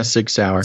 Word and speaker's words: Sig Sauer: don't know how to say this, Basil, the Sig Sauer? Yeah, Sig Sauer.